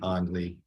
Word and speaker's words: Anneli: He and his wife, Anna Wies, had 3 children, Peter, Uli, and Anneli. I have been told that the first names ending with an Li or Ly, pronounced Lee, often occurs during childhood.